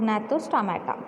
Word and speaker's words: Gnathostomata: How to pronounce? Agnatha and Gnathostomata.